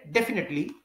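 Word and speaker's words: definitely: डेफिनेट come to party तो आपने इसको डेफिनेट नहीं पढ़ना जब आप नेट पढ़ेंगे तो ये मिस्टेक होगी तो आप ए को लॉन्ग नहीं करें डेफिनेटली तो इसको नेट आप जहन में रखिए कि नेट से है डेफिनेट तो इसको आप डेफिनेट जब लेंगे तो फिर आपको आसानी हो जाएगी लेकिन इससे ये भी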